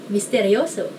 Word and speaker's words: misteryoso: Sounds like it's easy enough to pronounce like just mysterious becomes mysterious with an O at the end. Like Spanish people could do it. Misteryoso.